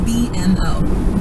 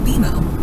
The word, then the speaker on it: BMO: You'll be seeing us around soon, and when you do, I bet you'll call us BMO. Don't worry, it's more common than you think, but we actually pronounce it BMO.